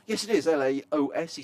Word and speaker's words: Laos: of street food in is it is it pronounced L yes it is Laos he says I've been watching since Friday we've